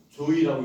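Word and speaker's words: 召史: 소사라는 말은 그 당시에는 과부를 소사라고 썼어요. 한자로. 읽을 때는 이게 이두문자이기 때문에 읽을 때는 조이라고 읽거든요.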